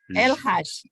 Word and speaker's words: El Hage: And this is El Hage. I'm not sure I can pronounce it correctly. Correct. It's correct. El Haj. Yes.